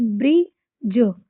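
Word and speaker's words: bridge: जैसे ये लिखा है तो ये ब्री और डी जी आया तो डी को साइलेंट करिए। ब्र ज ब्रिज पढ़ेंगे इसको।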